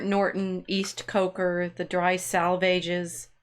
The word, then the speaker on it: Salvages: East Coker the dry salvages I'm not sure how to say that it's supposed to rhyme with the swages the die salvages um